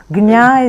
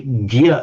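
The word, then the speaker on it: ज्ञ: was from a Hindi No a Hindi speaker would tend just to say gya as if it were g y a gy form. Gyan a gyani is a man of knowledge in in in in Hindi. So um I would say it doesn't matter terribly much. This is just my preferred form.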